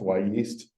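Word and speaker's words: Wyeast: call it why East it's actually W and then the word yeast but it's pronounced why yeast um they made this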